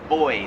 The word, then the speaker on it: buoy: We pronounce that buoy. Here in Australia, they pronounce it boy. Like boy and girl kind of.